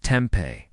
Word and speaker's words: tempeh: This could be chicken, fish, eggs, tofu, tempa, pronounced tempeh, or lentils.